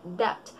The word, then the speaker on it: debt: Debt. Ang tamang pagkakabigas nito ay debt. Debt. Silent B. Hindi natin ipopronounce yung B.